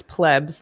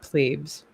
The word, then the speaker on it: plebs: Nick Duguid's correcting you, and it's plebs, not plebes.